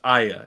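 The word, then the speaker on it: Aya: Um, if you say just her first name, yeah, it's pronounced ya.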